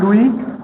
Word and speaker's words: Louis: জন look, JEN, জিন বলবে না, জন, জন লুই, LOUIS, লুই এসটা সাইলেন্ট, জন লুই রোডল্ফ, আগাসিস, এদের কাজগুলো।